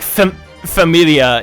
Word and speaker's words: famiglia: Oh, I don't like like familia in in Italian is spelled like famiglia. Famiglia? Yeah, it has a G in the Oh, middle for no goodness. fucking reason.